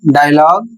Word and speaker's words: dialogue: अगला नियम है फ्रेंच से आए कई शब्दों के अंत में GUE होता है, जिसमें यू का उच्चारण नहीं होता है।